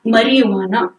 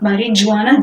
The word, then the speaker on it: marijuana: of cannabinoids they are Maria Juana Maria Juana it's marijuana it's not marijuana G is silent sure it is marijuana